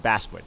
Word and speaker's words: Basswood: So it's pronounced Basswood.